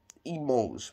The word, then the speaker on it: mangent: Even though E, I-L-S, or L, E-L-L-E-S, are plural and have the E-N-T ending, it is silent.